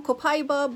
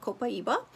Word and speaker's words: Copaiba: So for that sake, I am going to reference to this oil as Copaiba, which is how they pronounce it in South America, where this oil is extracted from.